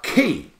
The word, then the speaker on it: key: Now, key, this is a killer word. This is the only one syllable word ending EY with an E sound. Monkey is 2 syllables, and they is a different sound.